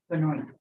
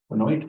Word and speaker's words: Benoit: I hope I'm pronouncing that correctly. It's been Benoit. Benoit? Yeah, but only, yeah. Okay, that's the Indiana pronunciation.